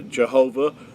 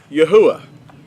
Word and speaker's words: Yahuah: it because they hear people say it's uh Jehovah or they'll hear it pronounced as Yahweh. they'll they'll hear it pronounced as Yehovah and um but the accurate transliteration is Yahwh.